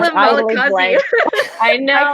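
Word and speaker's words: Malachiasz: at all turns; and I know how to pronounce Malakiaj is like how she was saying it. It's Malakiaj. Okay, I call him Malakazi. I know. I call him Malachi.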